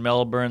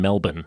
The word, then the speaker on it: Melbourne: got Brisbane right but you're still pronouncing the r in Melbourne Melbourne Melbourne it's like a bun like a it's like a bun it's like a pork bun just call it you